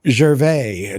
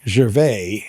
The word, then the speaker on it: Gervais: Admittedly, it looks like it's a name of some sort of French origin, but Ricky Gervais doesn't pronounce his name Ricky Gervais, he pronounces it Ricky Gervais.